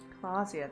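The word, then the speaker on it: Klaasje: out on the town clasia that's how you say your name I always pronounce it wrong smoking drinking being happy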